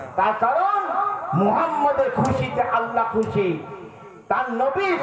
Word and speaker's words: মোহাম্মদ: কি করে কিন্তু শোনেন আমার নবীর নাম মোহাম্মদ মান দুটো মিম উচ্চারণ করতে হবে। দুটো ম উচ্চারণ করতে হয়।